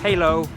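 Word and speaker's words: Hỏa Lò: we're in half --lo prison actually pronounced halo which was built by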